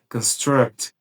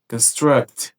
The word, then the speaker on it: construct: Atenção, porque caso a ênfase esteja na segunda sílaba dessa palavra, né, construct, construct, ela já vira um verbo que quer dizer construir.